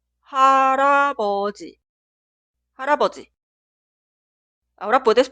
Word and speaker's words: 할아버지: Por eso cuidado, esta palabra nunca suena 할아버지. La pronunciación correcta es 할아버지.